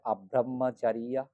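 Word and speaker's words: abrahmacariyā: পাবেন অব্রহ্মচরিয়া অব্রহ্মচরিয়া হ্যাঁ বইয়ের উচ্চারণ বলছে এটাকে অব্রহ্মাচারিয়া অব্রহ্মাচারিয়া অব্রহ্মচর্য বলার সময় আব্রহ্মাচারিয়া অব্রহ্মাচারিয়া আব্রহ্মাচারিয়া বলতে হবে তাহলে পাঁচ পাঠ হয়ে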